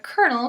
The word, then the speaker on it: colonel: somewhere along the line English got stuck with the French writing and the Italian pronunciation both of them shorten